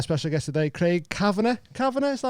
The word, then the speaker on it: Cavanagh: Cavanagh, is that how you say it? Yes, is you it said like it right. the Irish way? Cavanagh.